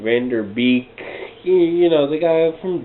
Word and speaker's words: Van Der Beek: uh in this film pretty much uh james vander i was let's say his name wrong van der beek you know the guy from dawson's creek he